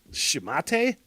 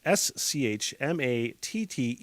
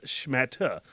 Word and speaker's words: schmatte: Schmate? Schmat. No, I'm looking at the pronunciation now. It is Schmatte. So it's not schmate, it's schmata. No, wait. Schmata. Yeah, that was right.